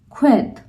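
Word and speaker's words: sked: not ka another example when I'm saying s k e d so when we are using sk with e soft vocal it will be qued it will be qu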